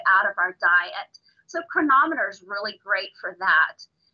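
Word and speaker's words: Cronometer: chronometer so that looks like chronometer but it's pronounced chronometer so it's a tracker that is really cool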